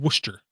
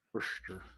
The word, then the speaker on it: Worcester: It might be in Worcester up there. Worcester. Yeah. Where the sauce comes from? Well, yeah, exactly. But of course you have to pronounce it if you're there. Worcester.